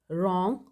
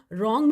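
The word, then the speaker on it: wrong: example no knife right रॉन्ग of lamb इनमें जो underline words हैं जैसे के इसमें नाइफ में के राइट में डब्लू रॉन्ग में डब्लू ऑफर में टी एंड लब में बी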